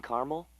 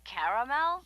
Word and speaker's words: caramel: I'd like it in caramel. Oh, the caramel? Yeah, that's what I said, Tina. Actually, you said caramel when it's pronounced caramel.